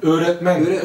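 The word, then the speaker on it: öğretmen: Nein, Öretmen. Das G wird nicht ausgesprochen. Das ist Jumushak G, man sagt weiches G.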